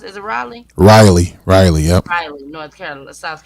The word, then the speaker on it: Raleigh: that was in Raleigh Raleigh how do you pronounce it Raleigh Riley Riley yep North Carolina South Carolina sure no no no Riley North Carolina okay so I will be covering